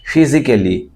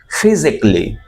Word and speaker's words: physically: সাধারণত মানুষ বলে থাকে ফিজিক্যালি, ফিজিক্যালি not Kelly, ক্লি, physically.